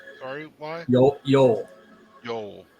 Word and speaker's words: Eol: Yol, like Oh, Yol. It is spelled EOL. Yol, just like old Yol.